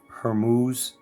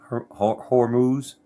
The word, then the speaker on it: Hormuz: Um, Iran is uh thinking about uh blocking the straight of Hermuz. Did I pronounce that right? Hormuz.